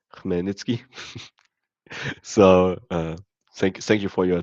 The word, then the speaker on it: Khmelnytsky: For everyone who wanted to hear it, it's pronounced Khmelnytsky.